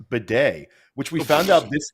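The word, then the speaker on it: Badie: we talked about Tyler batty and it's actually pronounced Beday which we found out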